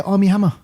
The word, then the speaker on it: Armie Hammer: army hammer yes say his name army yeah armie hammer yeah it's got it's got a few creak